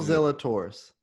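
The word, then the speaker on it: Zalatoris: talk about him will zella taurus is that how you say his name that's it man will zilla taurus will zelda taurus finished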